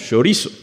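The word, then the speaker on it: χωρίζω: La palabra separar allí viene de una palabra griega que se dice o se pronuncia como la palabra que nosotros conocemos, chorizo, pero no es de ajo.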